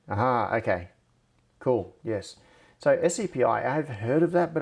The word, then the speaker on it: SCPI: what was i saying that's right oh scpi pronounced skippy aha okay cool yes so sapi i've heard of that but i don't really